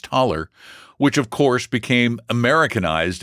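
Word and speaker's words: Thaler: T h a l e er pronounced taller which of course became americanized into dollar.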